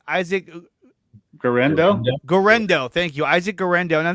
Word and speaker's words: Guerendo: Isaac Guerendo.